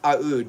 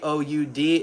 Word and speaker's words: Oud: and it's called Taif Aud because Taif is the name of the rose. T A I F. Aud is a O U D and that's how the Middle East pronounce oud.